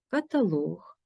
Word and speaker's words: каталог: голосний термометр хронометр гідрометр у словах іншомовного походження з компонентом луг цей компонент є наголошеним монолог діалог полілог каталог якщо прикметник двоскладовий наголос